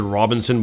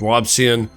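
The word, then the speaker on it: Robison: I want to pronounce it Robinson, but it's not, it's Robson.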